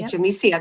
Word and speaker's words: Yamicia: Is Is the Y pronounced a little like a J? It's pronounced like a J. Yep. Okay. Jsia.